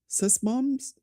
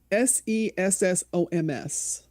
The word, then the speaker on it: Sessoms: Sesmoms? How do you say that last name, Doc? Hey, what? It's Sessoms.